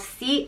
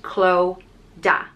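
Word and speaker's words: Clodagh: nashan Raha became kilishandra the next name is cloda and this is a very popular name in Ireland today it's spelled c-l-o-d-a-g-h and it's pronounced chlo da cloda and this is a river in County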